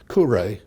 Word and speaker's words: Kure: And I was then taken over to Kure in Japan.